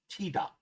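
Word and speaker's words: tidak: K sounds like G. This G sound is a choked glottal stop, and at speed often sounds as if it is simply omitted. So in example 1, tida.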